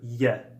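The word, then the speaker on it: Е: like the English E however this makes the yet sound similar to an English why and the cursor versions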